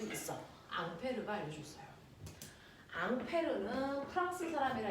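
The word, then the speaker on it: Ampère: 수 있어 앙페르 알려줬어요 앙페르 프랑스 사람이라 이름이 앙페르 그 사람을 미국놈들이 뭐라고 읽었을까 암어 암페어 그래서 2암페어 3암 암페어 할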